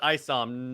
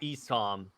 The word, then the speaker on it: ISOM: And it's pronounced ISOM, not ESOM.